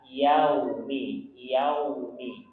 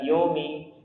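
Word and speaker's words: يَوْمِ: Yau itu bacanya yau bukan yo. Karena cepatnya baca maliki yaumiddin. Ya, namanya fathah harus dibuka. Yaumi. Bukan yomi.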